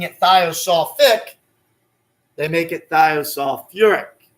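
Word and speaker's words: thiosulfuric acid: They add a syllable into the word to make it a little easier to say. So they would not call the acid thiosulfic. They call it what? Thiosulfuric.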